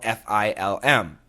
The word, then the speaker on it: film: So once again, use a light L. Fill. Close the lips. Film.